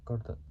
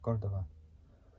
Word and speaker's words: Córdoba: How do you say it? Córdoba. Cordova. So Cordova.